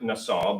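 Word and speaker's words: נשא: And so it's, I think, pronounced something like Nassau, but it's also fascinating to me that to lift up is NASA.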